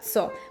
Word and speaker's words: co: Por ejemplo, si un hispanohablante ve esto, pensará que se pronuncia ko, pero en realidad se pronuncia zo.